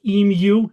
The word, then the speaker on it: Emu: And before we go on, Enrico, according to our friend Greg O'Bairn, our Australian BS and Beer organizers, he says it's pronounced Emu. Is that correct?